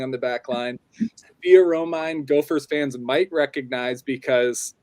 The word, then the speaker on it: Romine: We have Gabbie Cesarone and we have Sophia Romine, both here.